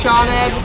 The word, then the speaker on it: Sioned: One of my, it's Sioned, I think, is her name, and it's just pronounced Shawned. There's no H in it. It doesn't make any sense.